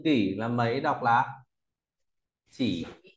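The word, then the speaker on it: 几: tiếp theo ta có từ kỷ là mấy đọc là chỉ à Chỉ đây cách viết chỉ như thế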